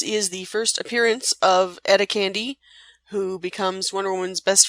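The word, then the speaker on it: Etta Candy: every panel I mean I've heard her name even be supposed to be pronounced EA candy kind of like with a British accent to make it even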